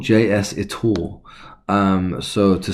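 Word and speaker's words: JSitor: find this editor now this is is called JS it all um so to spell that is JS i t o r it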